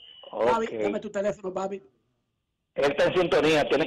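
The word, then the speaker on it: BABIP: es que se escribe, si es como Babi, es para buscar la estadística de bateo. Así pero, mismo que se escribe, B-A-B-I-P, Babi, que es B, bolas puestas en juego.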